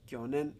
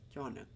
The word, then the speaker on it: 去年: No es kyonen, but kyonen.